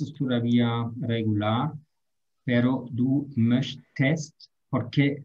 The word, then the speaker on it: möchtest: Ich möchte, eso es todavía regular, pero du möchtest, porque si agregamos aquí solamente la S, es muy difícil pronunciar esto. Möchts, sí, entonces, möchtest, du